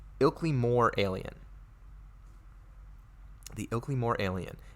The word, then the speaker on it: Ilkley Moor: way I get this correctly I believe it's pronounced Ilkley more alien the Oakleigh more alien a policeman named